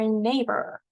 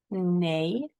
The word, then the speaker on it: neighbor: Here are two syllables. A lot of letters, but we don't hear all of the sounds. Our neighbor next door. Nay.